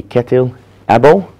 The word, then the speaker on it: Kjetil Åbø: That's the Norwegian way of saying my name. International way would be Kjetil Åbø.